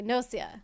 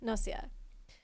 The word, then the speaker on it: Gnosia: So, you just assume that's how it's pronounced. Okay. Nosia. Nosia.